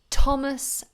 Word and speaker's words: Thomas: and then the names Thomas and Teresa our prime minister is Theresa May again it's pronounced always with this T but these these are